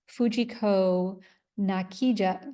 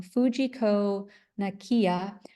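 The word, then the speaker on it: Fujiko Nakaya: And for the past 50 years, the Japanese artist Fujiko Nakija, I'm sorry, I'm pronouncing her name wrong, Fujiko Nakiya, has gained international stardom for these fabulous ephemeral sculptures made with fog.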